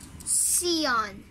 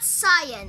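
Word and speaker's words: Sián: And also, Lamborghini Sion. Okay? Not Cyan.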